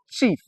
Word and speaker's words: chief: I will have words like um chief. Yes, a traditional titled man. Okay. So, I e produces the long e sound.